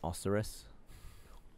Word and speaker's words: Osiris: of Osiris which I have bested uh it's pronounced oseris I lied do you remember that time you